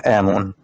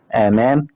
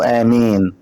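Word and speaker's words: آمون: امون معناها حبيبه الاله امون وامون هو نطق غير صحيح اسم الاله امن ولكن النطق الصحيح امان او امين ويقال في بعض الدراسات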